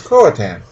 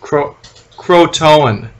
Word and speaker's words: Croatoan: So, which is as confusing as Croatan. Mm-hmm. So they get they choose this leader. He seems like an okay guy. Croatoan.